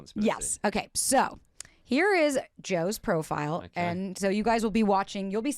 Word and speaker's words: Jo: We have another How to pronounce my name. It's Joe J.